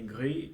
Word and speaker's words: gris: To pronounce g and r. Gris. Agree. It's like agree.